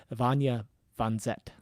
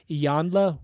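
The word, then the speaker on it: Iyanla Vanzant: Finney, and author and motivational speaker Vanya Vanzet. That's not correct. Ianya? I should have practiced that one. I think it's Iyanla.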